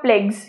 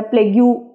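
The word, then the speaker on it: plaques: प्लग्स ठीक है terracotta प्लेगस या प्लेग यू प्लेग यू मत बोलना कभी प्लेगस ही बोलना ठीक है यू थोड़ा साइलेंट होता है यहां पे अब गाइ फ्लैट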